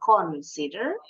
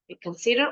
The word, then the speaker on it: consider: you need to Consider Consider bacanya bukan cons Consider all your options pikir-pikir